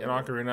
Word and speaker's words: Ocarina: same floor this is how you say it Ocarina I've never once use my map because it